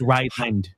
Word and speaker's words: Ryland: It It does sound exactly like Ryan, but it's uh like No, it's Ryland.